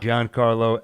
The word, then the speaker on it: Giancarlo: Giancarlo Esposito. They both. Is it Giancarlo? I don't know if you pronounce the G, but it's definitely not Giancarlo.